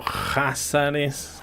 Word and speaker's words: Jázaros: Antes de los pechenegos, las estepas al norte del Mar Negro estuvieron dominadas principalmente por los Házares, Cázaros con K. K-H-A-Z-A-R-O-S, Cázaros, pronunciado Házares o Házaro, un poderoso pueblo túrquico que creó el Kanato Házaro entre los siglos 7 y 10.